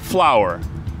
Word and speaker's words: flour: pronúncia de flower e flower não nenhuma diferença entre Flow de farinha e Flow de flor tem que distinguir pelo contexto mesmo por exemplo se eu